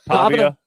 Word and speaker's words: Pavia: Can Well, first thing, can you can you pronounce his name right? Pavia.